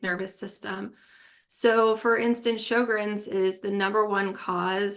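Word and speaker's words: Sjögren: it up it does it's not spelled like it sounds it when you read it and see it spelled out it looks like a chair from Ikea um it's SJ o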